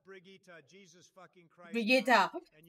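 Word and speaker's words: Brigitte: We have Bridget next. It's pronounced Brigitta.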